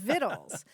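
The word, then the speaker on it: victuals: viddles viddles yes now that's not spelled like what you might think right because it's v c t u a LS viddles which means food right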